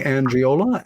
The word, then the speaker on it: Angiola: And my guest tonight, Tony Angiola. And Tony, am I pronouncing your last name correct? You are, sir.